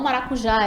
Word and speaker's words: maracujá: então trouxe alguns exemplos maracujá quando a gente chamou a palavrinha o maracujá identificamos que a sílaba tônica é a última né começando da ligo já a última penúltima antepenúltima então maracujá é oxítona chaminé ninguém armazéns pastel